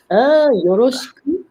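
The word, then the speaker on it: よろしく: Yoroshiku.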